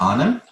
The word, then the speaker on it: Aanam: So it's actually Aanam. We pronounce it Anam. Anam? So it's double A is R.